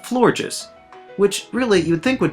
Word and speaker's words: Florges: The other aspect of this Pokemon is its natural beauty, so it's no surprise that Florges also draws the other half of its name from the word gorgeous.